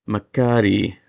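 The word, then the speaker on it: μακάρι: So, it's supposed to be Makari e, not with a glottal stop, but it's supposed to be just a drawn-out Makari.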